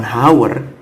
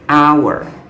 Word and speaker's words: hour: adalah huruf mati tapi cara bacanya tuh bukan haur tapi our our dimana bunyi Allah itu